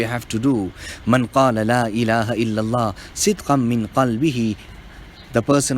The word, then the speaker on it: La ilaha illallah: La ilaha illallah. The ha, la ilaha, and illallah, the ha, both must be clear.